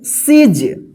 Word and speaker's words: siege: इसी तरह से यहाँ पे देखिए SIEGE, देखिए यहाँ पे IE एक साथ है तो इसको क्या पढ़ेंगे, सीज।